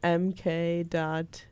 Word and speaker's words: MK.gee: So one is called You by MK.Gee. MK.Eee? Gee. It's like pronounced Mickey.